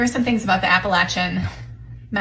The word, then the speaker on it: Appalachian: the Appalachin Mountain, which I was told that's exactly how you say it. We were brought up in Wisconsin and so we were brought up it was Appalachian. So, it's Appalachin. Appalachin.